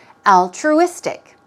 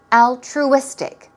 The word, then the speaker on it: altruistic: to pay for something altruistic here we go stress goes right here let's practice how to pronounce this word it's three times altruistic altruistic one more time all true stick dress goes there and we're talking about